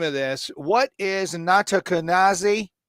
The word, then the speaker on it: Nattokinase: What is Nattokinase? How did I do? Nattokinase? How close? Nothing? Not too good. No, not too good. How do you say it? Nattokinase.